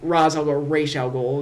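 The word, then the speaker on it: Ra's al Ghul: been successfully brainwashed by Raz Raol is the correct pronunciation but whatever. um where Rosal go successfully brainwashed Oliver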